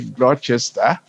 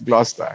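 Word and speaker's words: Gloucester: So even the way we pronounced things, you know, the locals pronounce them differently. We would say Glchester where in England is Glustester, you know.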